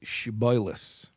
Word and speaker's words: shibboleth: I'm going to pronounce it with my Hasidic Ashkenazic accented biblical Hebrew. But the word is shiboilis.